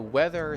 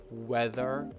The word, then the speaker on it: weather: Remember, it is weather, a difficult word to pronounce. I remember struggling with it when I was learning English. I used to say weather. So two sounds were off, if not three. First off, it is not v, it is w.